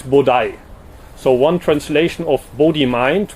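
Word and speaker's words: 菩提: And those words are now pronounced in Japanese Bodai.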